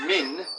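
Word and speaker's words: مِن: The pronunciation is also different. Men, and this means who. Who. And this is min, and it's usually translated as from or of.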